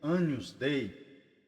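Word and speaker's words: Agnus Dei: desses apostolados é o Agnus Day anus Day né a pronúncia mais correta pronúncia correta em latim anus Day do caríssimo Carlos Martins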